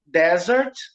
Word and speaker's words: desert: Observe que o primeiro, a sílaba tônica é a segunda, é dessert. Dessert. E tem 2 S's. E a segunda palavra é desert, tá? Com um S só, e a sílaba tônica é a primeira.